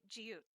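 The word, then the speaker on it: 지읒: Now, if you notice, I'm still not pronouncing that last T very hard. Jiut, because when you make a T sound, the tongue actually goes to the roof of your mouth, and the power does not rely on the air going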